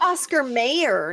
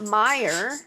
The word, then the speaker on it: Mayer: That's Oscar Mayor, not Meyer. Yeah. No, it's uh it's an A. You're just changing the whole pronunciation of somebody's family name, dude. Like it's Meyer. Sing the old song. Oh, I wish I was an Oscar Meer winner. Not mayor.